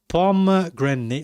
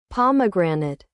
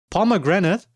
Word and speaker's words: pomegranate: Pom grenade. How do you actually pronounce that?